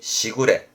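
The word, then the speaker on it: 時雨: 시우라는 발음이 시구레.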